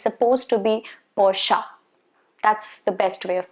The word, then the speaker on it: Porsche: on the road it's not supposed to be porch or porsche no porsche is something that i've heard a lot of times but it's not right it's supposed to be porsha that's the best way of pronouncing it the